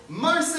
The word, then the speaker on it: Marsich: My rhymes with car sick, Marsich!